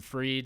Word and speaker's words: Fried: Just search When the Edible Hits, Freed, spelled like fried because I'm a stoner and that's how it is, and you could find it there.